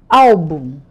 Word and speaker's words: álbum: Álbum. A sílaba mais forte não é o bum, é o al.